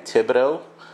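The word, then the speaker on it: Thibodaux: you would probably laugh it's spelled t h i b o d a u x so just a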